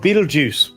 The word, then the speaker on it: Betelgeuse: It's called Betelgeuse. That's how it's pronounced.